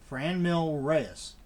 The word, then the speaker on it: Franmil Reyes: How in the hell do you pronounce this guy's name? Franmil Reyes? Franmil. Franmil Reyes.